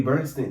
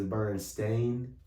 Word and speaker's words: Berenstain: we call them and apparently it's burning stained and they weren't a Bernstein there was always a Ain and now like we've been pronouncing it wrong yeah and reading it